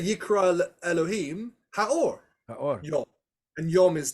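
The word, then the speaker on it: האור: How do you say the in Hebrew? Right. Ha. Ha. So it should be, if it said God called the light something, it should say the Ha'or.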